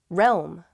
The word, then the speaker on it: realm: with this important deal realm realm i see why this one's hard it's that rome part little realm it's a weird word isn't it it's used